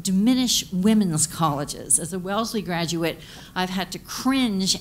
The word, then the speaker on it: Wellesley: can't have people from well as Lee and finally I just got up this person couldn't pronounce it correctly my Dean and I said I said hey that's Wellesley that's my alma mater